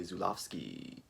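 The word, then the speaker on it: Żuławski: be talking about 1981's possession from filmmaker andre zulovsky yeah i said it right if you don't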